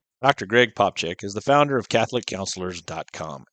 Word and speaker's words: Popcak: It makes it sound like a CH. Okay, yeah. Well, you're we're from German country, so you know, neighbors. Yep. Dr. Greg Popchak is the founder of